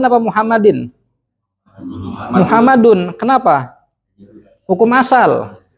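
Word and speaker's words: مُحَمَّدٌ: Ini kata Muhammad, asalnya kita baca Muhammadan apa Muhammadin? Muhammadun. Kenapa? Hukum asal. Hukum asal itu pasti dhammah.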